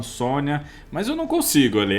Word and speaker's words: Sonja: a pronúncia certa mesmo no filme eles falam Sônia mas eu não consigo